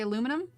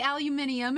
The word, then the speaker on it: aluminium: I can't deal with the way Americans say aluminum. Aluminum? I know, it's supposed to be aluminium. It makes more sense, but no, I say aluminum.